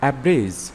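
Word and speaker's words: abridge: এস টি এজাস্ট এখানে ডিজে পরপর থাকায় ডি উচ্চারণ হয়নি এজাস্ট অর্থ সমন্বয় করা এডজেক্টিভ এডজেক্টিভ অর্থ বিশেষণ এজয়েন এজয়েন অর্থ সংযুক্ত করা এভ্রিজ এব্রিজ অর্থ সংক্ষেপ করা গ্রাজ্র রাজ অর্থ হিংসা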